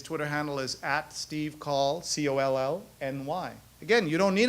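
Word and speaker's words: Coll: twitter by the way his name is pronounced call rhymes with dahl uh people should know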